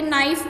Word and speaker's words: knife: Okay, कई words जैसे कि नाइफ वर्ड आपने सुना होगा, उसको लिखते कैसे हम? KNIFE, बट उसमें के जो होता है वो साइलेंट होता है, उसकी आवाज़ नहीं आती।